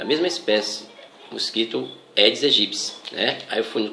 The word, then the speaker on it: Aedes aegypti: A pronúncia correta é Aedes aegypti. Escreve-se Aedes aegypti, mas a pronúncia correta é Aedes aegypti. O piti tem som de psi, né?